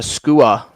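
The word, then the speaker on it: skua: to uh to photograph and we have a skewer so it's spelled SK UA uh these birds are penguin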